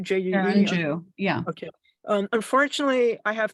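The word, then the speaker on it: Jue: I hope I'm not going to mispronounce her name. It's Sharon Ju, Sharon J-U-E. Jew, yeah.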